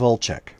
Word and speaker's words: Olczyk: by the name of Olchek. Volchek? Olchek. Olchek? Volchek. OLC. It is OLCYZK. Gesundheit. Yeah, I would have never guessed that. There we go. Spell it phonetically. Just OLCHEK. Or sorry, it's OLCZYK.